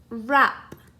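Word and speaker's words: wrap: is a a silent here's another one rap again sounds just like it starts with an er but it starts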